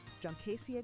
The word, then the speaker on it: Juncaceae: With a handful of cuttings from a eight junkai junsai uh jonakai uh Wait, uh how do you pronounce that? Juncaceae graminoids.